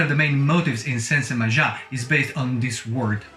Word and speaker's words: Sensemayá: The opening bars, for instance, can be mapped to the word Sensemayá, with the accent on the ya emphasized by the claves.